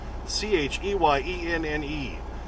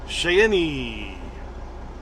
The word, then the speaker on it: Cheyenne: fine i live in cheyenne and of course most people can't spell that c-h-e-y-e-n-n-e which is more really sounds like shay any but it's cheyenne okay went off a